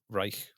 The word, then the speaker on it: Reich: Reich. Yeah, Reich. You and you can't pronounce anything to do with Nazis, man.